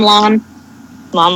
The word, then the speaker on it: Lon Lon: But it's just Lon Lon, which is basically the Hyrule equivalent of cows. Ooh. Still, Lon Lon.